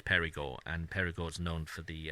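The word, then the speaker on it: Périgord: the door doing but in french it's perigo and perigord's known for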